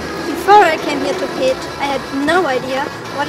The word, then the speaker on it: Pécs: Pécs? Pécs? Pécs? Pécs? No, it is pronounced Pécs, with a beautiful smile when you say it.